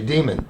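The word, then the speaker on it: Diemand: not a corner sorry goalie's name is uh pronounced demon I guess it looks like diamond but it's d i e m a n d and I guess I read it pronounced Dem demon okay demon right Riley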